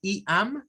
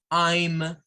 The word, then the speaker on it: I'm: está diciendo mal bien si usted me pronuncia como ama lo está diciendo mal la forma correcta para gesticular esas contracciones en inglés es I am para la primera sin contracción hay en I am y I'm I'm bueno eso por